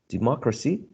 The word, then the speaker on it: democracy: We talked about the general rule for 3-syllable words, like universe, article, relative, democracy. And here the rules indicated that the third syllable from the right to the left was the one which carried the stress.